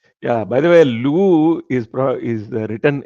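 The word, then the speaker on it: Louvre: For people who want to search, I think it's Lu, sir. Yeah. L. Yeah. Something like that. Yeah. Lu. L U V R E or something like that.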